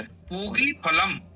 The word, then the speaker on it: पूगीफलम्: पूगीफलम् शब्दस्य उच्चारणं सम्यक् भवतु। पूगीफलं गृह्यताम् एवं भवतु।